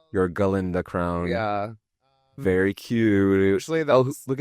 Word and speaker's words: Galinda: it is it's my galenda crown it's I like that you still say the a in the first syllable your galinda crown yeah very cute